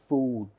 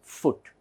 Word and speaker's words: foot: here two o's but it should be pronounced only as foot and not as food it is only foot this is also good